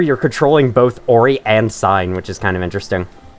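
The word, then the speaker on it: Sein: might pronounce her name sane and I did for a while as well but I heard a pronunciation sign recently and looked it up and it's probably the correct one it's a German name so that's what I'm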